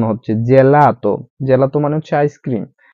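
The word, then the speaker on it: gelato: এখানে বোরকা উচ্চারণ হচ্ছে জেলাত।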